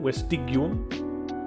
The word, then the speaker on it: vestigium: neuter second declension noun, vestigium, as opposed to vestigium. It's always a hard G in Latin, vestigium, and then it is